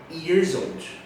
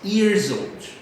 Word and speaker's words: years old: Então o years old, vocês vão ver que o s no final do years ele tem um sonzinho de Z e quando junta com o old fica years old, ok? Let's repeat years old.